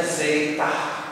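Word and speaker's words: ζήτα: ya perhatikan tulisan huruf besarnya huruf kecilnya ya pengucapannya zaitah zaitah Nah ditransliterasikan dengan huruf z zat seperti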